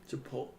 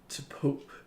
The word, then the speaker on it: Chipotle: say Chipotle, Chipotle.